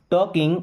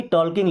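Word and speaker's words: talking: Is means है टॉकिंग means बात कर रहा। अब आपको ये ना लगे कि टॉल्किंग लिखा है। यहां पे एल साइलेंट है।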